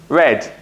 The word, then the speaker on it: read: is slept and finally read becomes red but they are spelled the same the sound changes now let's look at